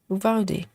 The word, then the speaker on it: Uvalde: Clara says that shooting was in, how do you pronounce that name? Uvalde? Uvalde.